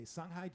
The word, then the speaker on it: Songhai: And that's spelled SONGHAI.